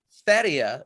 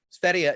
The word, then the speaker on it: Sverige: Sverige is how Swedes say Sweden. Sverige is Sweden, but said in Swedish.